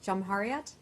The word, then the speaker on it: Cumhuriyet: I don't want to mispronounce it. Jumhuriyet? Is that how I say it? Jumhuriyet, thank you.